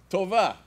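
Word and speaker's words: טובה: Tova. Tova. Like to ova.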